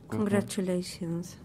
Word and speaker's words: congratulations: This, you have to make, yes, you have to imagine it's a CH, as in Chinoa. Congratulations.